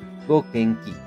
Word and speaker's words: Gokenki: la provincia de Fujian, llamado Wuxingyu, pronunciado Gokenki en japonés.